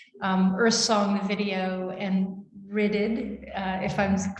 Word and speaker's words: Rhyddid: we're showing here, Earth Song, the video, and Ridded, if I'm pronouncing it correctly. Shall we go through a pronunciation first? Please, please. It's Rhyddid. So Rhyddid, which is a Welsh word that means freedom,